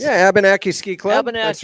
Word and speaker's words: Abenaki: Is that how it's pronounced? Yeah, Abenaki Ski Club.